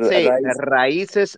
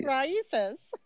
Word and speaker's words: Raíces: She doesn't pronounce it well. Sorry. Making fun of me again. Say it. Raíces Cyber. Are you calling on me? You guys picking on me? No way. Raíces.